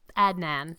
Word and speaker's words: Adnan: upbringing and your relationship with your lover um Adnan. Am I pronouncing that correctly? Um I always just call him Adnan. Adnan.